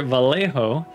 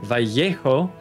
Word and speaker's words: Vallejo: insisted on calling this vallejo on the stream even though i don't think that's how it's pronounced in america but he says it's a spanish name it should be pronounced spanishly i disagree but that's